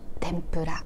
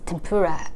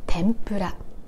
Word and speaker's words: 天ぷら: And be careful with the pronunciation of the word tempura. It's tempura in English, but it's pronounced as tempura, tempura in Japanese. It starts low, then moves high on N.